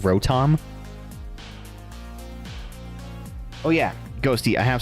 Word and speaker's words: Rotom: Yeah, people were were teasing me at the at locals when I was saying rodom like rodom like pronouncing it like rodom instead of rotom.